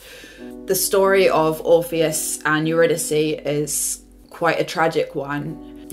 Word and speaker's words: Eurydice: And my brain was like, well, obviously Eurydice. Eurydice. Which is Gluck's pronunciation in his opera Orpheus in the Underworld.